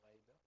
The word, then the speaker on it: Ghaida: I think I'm pronouncing it in the right way. Ghaida. Are you Ghaida or Ghada? Ya Ghaida.